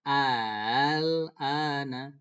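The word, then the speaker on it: ءَآلْآنَ: A'al ana dibaca al. Nah, al-ana. Al-ana dibaca al-ana. Jadi hamzahnya di sini bukan dibaca a, bukan aa, tapi a. Nah, gitu. Tapi itu namanya hamzah musahhalah. Dia hamzah tapi dibacanya musahhalah, ditashilkan. Nah, dimudahkan cara bacanya. Jadi al-ana.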